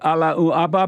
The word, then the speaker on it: Allahu Akbar: And do you love the Allahu Akbar people? You gotta say it the right way.